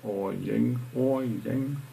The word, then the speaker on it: Årjäng: So we would have started here with a fully charged car, gone to Årjäng, how it's pronounced, charge again, because we spent 3 days over there, AC charge again.